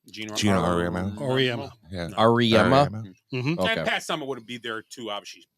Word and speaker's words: Auriemma: Gino Auriemma.